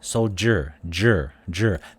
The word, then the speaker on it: soldier: Soldier, usually we've seen it with the pronunciation. It's with J or with a G letter, but with the sound soldier, that sound j, it's right there because we don't say soldier, soldier. It's a French-based pronunciation, as I recall, but it is there.